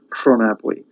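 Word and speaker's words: Rhonabwy: Pronabwy. We got that RH sound again, like in Rhiannon. Pronabwy.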